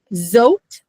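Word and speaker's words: זאת: Zot. Zot. You got the Z. The olive is silent. There's nothing there. And it ends with a T.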